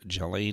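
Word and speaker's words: Ghislaine: madam his cohort here Jolene Maxwell as I've heard the pronunciation is to be correct I think she should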